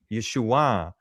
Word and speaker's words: Yeshua: the the southern part, they did not pronounce the iron the proper way. They pronounced it just as an uh an A sound. Are you there? But, in the Galilee section, they pronounced it correctly and they used the upward nasal ah Yeshua.